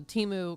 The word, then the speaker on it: Temu: I was going to show someone the Timu because I was like, we're pronouncing it wrong. You know, it's spelled Temu or however the heck it is.